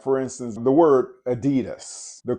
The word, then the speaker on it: Adidas: Like, for instance, the word Adidas. The correct pronunciation for that word is Adidas. And that's saying it with the pure vowel sound.